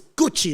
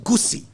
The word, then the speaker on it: Gucci: Now, he didn't understand that in Italy, when you pronounce the letter C, it's not C, but it's Ch. So it's Gucci, not Gucci.